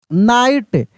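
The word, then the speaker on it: night: नाइट इसमें भी जी एच क्या है? साइलेंट है।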